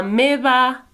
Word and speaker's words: meva: Just remember, we pronounce these V's a bit more like B sounds. So, la meva àvia té el cabell blanc.